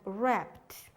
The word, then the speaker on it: wrapped: no new you then wrapped wrapped the mush wrap blanket around his dog we can't hear the w in wrapped the same is rach